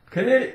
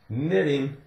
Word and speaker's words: knitting: stocking caps knit knitting if you say it wrong Canadian can it no no no knitting knock now we talked